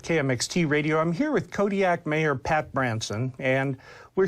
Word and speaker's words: Kodiaq: In the Alutiiq language, the Q's are more come from like your throat than a normal K does. How would we pronounce it then? Kodiaq.